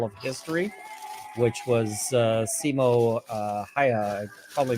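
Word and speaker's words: Simo Häyhä: you so much uh the a is pronounced like the a in hand so uh hand ha I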